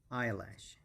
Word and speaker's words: eyelash: beautiful that's eyelash eyelash eyelash so the stress is on the first level and it's i lash eyelash and then let's move